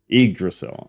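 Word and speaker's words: Yggdrasil: you say it yrail just replace the Y with an i igdrasil okay connects uh helim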